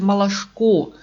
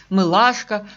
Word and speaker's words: Малашко: Самое главное, что фамилия Михаила все-таки Малашко, с ударением на последнем слоге, а не Мылашко, как часто пишут и говорят.